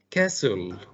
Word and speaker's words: castle: go ahead and call no t here is not pronounced okay castle abdullah good reading now